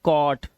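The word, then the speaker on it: caught: इसे पढ़ेंगे क और जो हमारा जी एचटी है इसमें जी एच को हमेशा हम क्या रखते हैं साइलेंट रखते हैं तो हम क्या पढ़ते हैं सिर्फ टी को पढ़ते हैं तो ये हो गया कॉट ये कॉज नॉट नॉट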